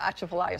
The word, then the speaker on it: Atchafalaya: I love the Atchafalaya swamp. Loved it. And I'm glad that you actually pronounced it right.